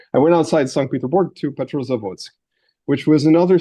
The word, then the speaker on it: St. Petersburg: I'm going to use the Russian pronunciation there. I went outside St. Petersburg to Petrozavodsk, which was